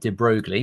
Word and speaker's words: de Broglie: So, this is for the new to this, de Broglie, which is spelled de Broglie, but it's de Broglie, who I think was a some aristocrat, I think.